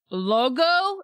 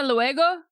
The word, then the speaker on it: luego: Logo? Isn't it hasta luego?